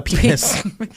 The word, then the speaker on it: pianist: A pianist. Say it slowly so we don't get censored. Pianist. Pianist. Is it pianist? It is pianist. You just put the emphasis on anise.